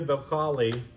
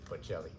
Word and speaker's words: Bocelli: Star of the Sea Andrea bocali with Bocelli Andrea Bocelli and see I'm terrible